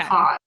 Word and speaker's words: cause: cause. So Mm. those, these, cause, because. Those are all pronounced with the Z sound at the end.